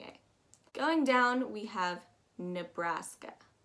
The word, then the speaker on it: Nebraska: net too much but definitely pronounce it as bra and not bruh nebraska that just it's simply